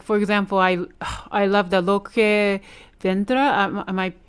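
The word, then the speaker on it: Lo que vendrá: Like for example, I love the Loque Vendra. Am I pronouncing correctly?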